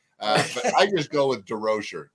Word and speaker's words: DesRochers: But I just go with DesRochers, drop the S's and brutalize it.